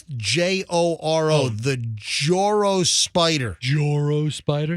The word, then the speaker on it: Joro: It's Joro.